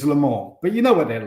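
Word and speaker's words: Le Mans: which one now it's Lamar Lamar so you don't pronounce the N or the S um well you don't pronounce the S really if you're speaking with a French accent it's Lamar but you know what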